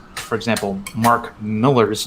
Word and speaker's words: Millar: know there's still a lot of people that pronounce for example mark miller's name mark millar oh yeah but it's it's miller yeah yeah